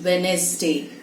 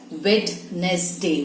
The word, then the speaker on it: Wednesday: For example, how would you pronounce Wednesday? It is Wednesday. And I'm sure most of us do it as Wednesday, which is wrong. So D is silent.